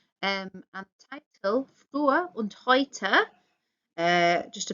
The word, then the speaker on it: heute: And the title, Früher und heute. Just a pronunciation note, remember EU makes the OI sound.